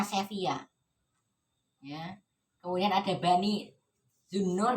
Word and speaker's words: Sevilla: Ini masanya Muluk at-Tawaif atau Taifa, atau kerajaan-kerajaan kecil yang dimana diantaranya adalah Bani Abbad di Sevilla, bacanya Sevilla lisannya, tapi bacanya Sevilla.